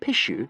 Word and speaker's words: pishu: The word pishu, for example, is pronounced very like a sneeze.